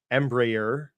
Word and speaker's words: Embraer: their own Jets how do you say this Embraer yeah if I tried I'd butchered more so so but they they don't